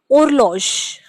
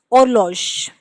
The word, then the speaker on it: horloge: For clock, we pronounce it horloge. Why? Because here also H is silent, and if H is silent, we pronounce it just after it. So it is horloge.